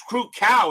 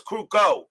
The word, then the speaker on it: Krukow: yeah rhymes with no it's crew cow it's I thought it was crew cow not show I don't think it's cruco it's not cruco it's crucial last night unless I checked not rhyming with now eyewear was crew cow not crucial not cruco I may I don't know that's what I heard I remember when I watched it I heard crew cow as um on the